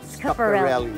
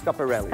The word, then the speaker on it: Schiaparelli: This is a Schiaparelli couture gown. Is that how you pronounce it? Schiaparelli. Yes. Schiaparelli.